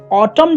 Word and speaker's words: autumn: ऑटम जो है, ऑटम जो कि आप विंटर के पास है, ऑटम जो है AUTUMN होता है, सो एन को छोड़ देते हैं वो लोग, क्योंकि वो साइलेंट लेटर है, इन इंग्लिश देयर आर